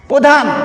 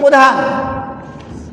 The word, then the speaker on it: প্রধান: আমরা যদি প্রধান, অনেকে বলি প্রধান, বানান ঠিক আছে কিন্তু উচ্চারণ হয় না, প্রধান। এক্ষেত্রে তোমাদের এই সূত্রটি অবশ্যই মনে রাখতে হবে যে আমরা আগেই পড়েছি যে অর পরে যদি র ফলা থাকে তার উচ্চারণ ওকারের মতো হয়, তাহলে সেটা উচ্চারণ হবে কি প্রধান।